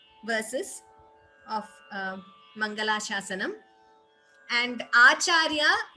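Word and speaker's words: आचार्य: And Acharya, the word is pronounced as we are pronouncing it. There is no extra ch there. Madacharya Purogamaihi Purvairacharyehi. Acharya, all of you know the word Acharya. It is just pronounced in that way. Extra cha is not there.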